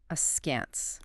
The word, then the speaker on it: askance: The word for today is askance. Askance.